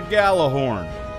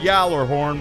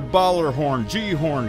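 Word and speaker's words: Gjallarhorn: all right then see this this is a Galah horn people are going to try and convince you it's pronounced Yer horn but it's not other acceptable pronunciations are baller horn Gorn and Galah hor but never ever yalah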